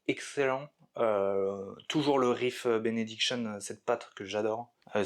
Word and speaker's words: Benediction: C'est Ravage of Empire de Benediction. Alors, je dis benediction parce que c'est très important de le prononcer comme ça.